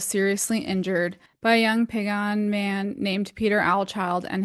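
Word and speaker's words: Piegan: One that I did notice while I was editing specifically is Pagan. That is a little bit closer to how it should be pronounced. The other is Picani.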